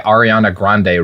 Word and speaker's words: Ariana Grande: I'm going to go listen to my Ariana Grande records.